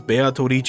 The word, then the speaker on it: Beatrice: Like you maybe recognize Beatrice as a name being specifically pronounced as Beatorici, because again they're writing the katakana differently, because it could just be Beatrice, or specifically how they wrote it is Beatorici.